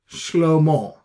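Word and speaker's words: שְׁלֹמֹה: Solomon is Shlomo. Shlomo. Okay, that's how it is pronounced.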